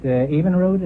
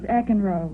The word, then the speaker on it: Eckenroad: Evenroad, is that the way you pronounce it? No, it's Eckenroad.